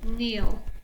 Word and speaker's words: kneel: Remember the K is silent. 3, 2, 1, kneel.